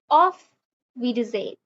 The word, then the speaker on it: Auf Wiedersehen: तो formal bye के लिए you will say ऑफ विडजेन, ऑफ विडजेन, ऑफ विडजेन। एक बार फिर, ऑफ विडजेन, विडजेन, राइट? एस को हम जेड प्रोनाउंस करते हैं तो इट इज ऑफ विडजेन।